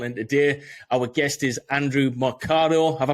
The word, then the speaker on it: Andrew Mercado: And today our guest is Andrew Mercado. Have I pronounced your name right there?